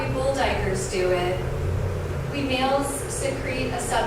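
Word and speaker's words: duiker: The common diker, spelled D-U-I-K-E-R, a small antelope, the name is clearly pronounced diker, uses a pair of glands under its eyes for scent markings with a tarry secretion.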